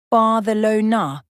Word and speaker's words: Barcelona: In Spanish, it's pronounced Barcelona with a soft th sound in the middle.